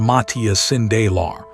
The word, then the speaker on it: Matthias Sindelar: Matthias Sindelar, pronounced Matthias Sindelar, the Austrian forward known as the Paper Man, refused to play for the Reich.